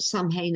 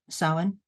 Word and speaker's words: Samhain: So it is the season of Samhain, as you pronounce it, Samhain as it's written, Samhain as you, I keep being pulled up on this, is the way you should correctly pronounce it.